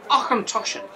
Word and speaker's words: Auchentoshan: Auchentoshan.